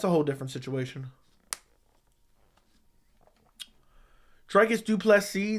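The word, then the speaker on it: Du Plessis: whole different situation tricus duplex C the S is silent for Savage okay which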